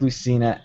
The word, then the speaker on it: Lucina: I'm agreeing with both the pronunciation and the statement. Okay. That is my comment. I didn't like Lucina at all.